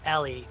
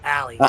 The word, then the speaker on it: Allie: You said Ellie instead of Allie.